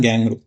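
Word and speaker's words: kangaroo: இன்னொன்று கேங்க்ரூ வந்து ஆக்சுவலாக நம்ம ஊரில் கங்காருன்னா ஈவன் நானுமே கங்காரு தான் படித்தேன். பட் அதை வந்து கேங்க்ரூ அப்படி தான் ப்ரொனவுன்ஸ் பண்ணணும்னு சொல்லிட்டு நான் ஆஸ்திரேலியா வந்ததுக்கப்புறம் தான் எனக்கு தெரியும்.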